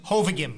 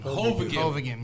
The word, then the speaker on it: Hovagim: Hovagim. Hovagim, yes.